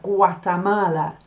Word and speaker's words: Guatemala: When you have G-U-A, it makes a gua sound, just like agua. So you have Guatemala.